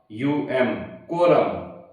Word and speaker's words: quorum: तो शब्द है यानी मीनिंग है QUORUM, QUORUM, कोरम। उच्चारण के लिए कोरम है और इसका हिंदी अर्थ आपको कॉपी में लिखना है गणपूर्ति।